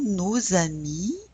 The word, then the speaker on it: nos amis: Why are we pronouncing that S now? Yes, because it's in front of a vowel.